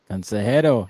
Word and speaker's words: consejero: It's a consejero. Consejero. That's how you say it.